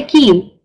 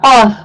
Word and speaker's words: qaf: So you need to make sure that you pronounce it with a full mouth and really strongly, right? It's not gonna be like a ka. Don't say keen. Say qeen. It's gonna be a strong qaf, right?